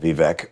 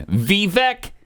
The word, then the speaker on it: Vivek: I just feel there's a little racism there. Bill Maher, thank you for that. It's Vivek, stupid, not Vivek. I mean, he can't even pronounce it the way everybody used to pronounce it before we learned how to pronounce it. It's Vivek. You know, back then, to him, it's Vivek.